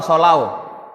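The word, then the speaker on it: صَلَّوْا: kita biasanya baca gimana Shu apa shau kita macaan Shu kan karena tulisannya juga Shu yang benar shau bukan Shu tapi shau ini Kal ilmu shorof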